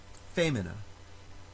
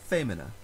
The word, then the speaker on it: femina: stress festinate in the word femina the second to last syllable has a short vowel short i followed by only one consonant so the stress moves forward to the previous syllable femina or it moves back